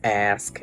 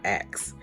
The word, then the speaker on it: ask: got the job because I pronounced ask as ask and not ax.